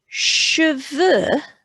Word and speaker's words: cheveux: Cheveux, they often say it sounds, when they hear it, cheveux, it's got a sh sound, and it makes them